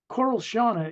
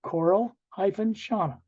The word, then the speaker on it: Coral-Shauna: Coral Shauna is the name of a person in the book, Coral-Shauna. It's pronounced COR-EL-SHAH-NAH, Coral-Shauna.